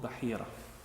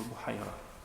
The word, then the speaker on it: Bahira: The leader of that monastery then was a monk called Bahira, or Buhaira, depending on who pronounces it on what part.